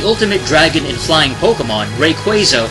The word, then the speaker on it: Rayquaza: go number one Rayquaza the ultimate dragon and flying Pokémon r quaza or ruza pronouncing Japanese is a legendary Powerhouse